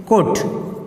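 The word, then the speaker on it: Codd: এক এক বইয়ে এক একভাবে দেয়া আছে বাংলা উচ্চারণ। কড বলে, কেউ কোড বলে, কোনো বইয়ে কড লেখা আছে, কোনো বইয়ে কোড লেখা আছে।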